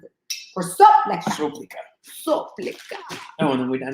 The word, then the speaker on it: Soplica: spokesperson for the, how do you pronounce it? For soplica.